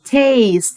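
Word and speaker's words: taste: سمل يرى يعني سي يتذوق يعني تيست الاي في الاخر ما ننطقهاش ولكن بتساعد الاي ان هي تقول اسمها يبقى تيست تيست تيست عندي بعد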